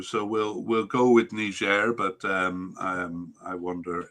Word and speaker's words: Niger: you know um well the french pronunciation seems to be the main one that um that we can find so niger is is what seems to be the most common even in even for english speakers yeah that's what i